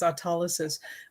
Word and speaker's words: autolysis: I know in a lot of videos, I will say autolysis because sometimes autolysis gets stuck and it doesn't always come out. And I hate that. But the proper pronunciation is autolysis.